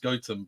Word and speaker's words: Gotham: we live near a village it's spelt Gotham, but it's pronounced Gotham. But yeah, so we kind of live near Gotham, I guess, as well.